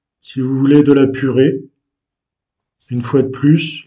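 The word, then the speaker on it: purê: une fois de plus, l'accent aigu donne le son est comme si c'était un accent grave. Donc, purée se dit et s'écrit de la façon qui apparaît ici sur la vidéo.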